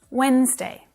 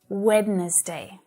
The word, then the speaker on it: Wednesday: learning Journey right but I still hear my students saying wedness day so it doesn't have three syllables it only has two Wednesday Wednesday and that first D is completely silent Wednesday Wednesday I'm working